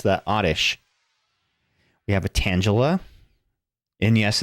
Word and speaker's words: Tangela: We have a Tangela. And yes, it's pronounced Tangela.